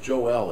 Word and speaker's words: Joel: It's actually pronounced Joel in Hebrew.